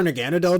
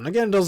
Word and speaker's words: Naganadel: Naganadell's design is also really sick, and please don't pronounce this Naganadel. Naganadel, that sounds way better, in my opinion.